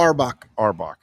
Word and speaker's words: Auerbach: Auerbach.